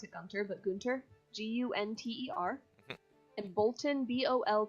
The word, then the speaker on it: Gunter: you'd expect Gunter sort of I I did pronounce a counter but Gunter GU nter and Bolton vol t o n